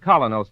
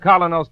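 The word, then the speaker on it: Kolynos: teeth isn't that correct we honestly believe that colo's toothpaste will help clean and polish teeth more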